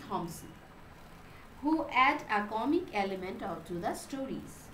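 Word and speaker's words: Thomson: See, Thompson, the pronunciation will be same, only the spelling is a bit different. Like Thompson, in second case the P will not be uttered. So both the pronunciation will be Thompson, who add a comic element to the stories.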